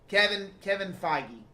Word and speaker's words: Feige: Kevin Feige. That's how you pronounce it.